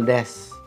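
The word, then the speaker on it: です: Jadi, jika ada huruf U di akhir kalimat, itu biasanya dibaca tipis. Nggak semuanya ya, tapi beberapa. Misalnya, arigato gozaimasu. Nah, itu dibacanya tipis, bukan arigato gozaimasu ya, tapi arigato gozaimasu. Begitu juga misalnya hasnul des. Itu tulisannya hasnul desu. Dibacanya hasnul des. Tidak hilang secara penuh, tapi jika kita baca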